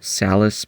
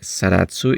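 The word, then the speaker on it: Zaratsu: The finishing is all Salis polishing, or Saratsu if you have a Japanese pronunciation. Just a friendly reminding, Saratsu is Salis. It's just that Japanese cannot pronounce Salis, so they say Saratsu.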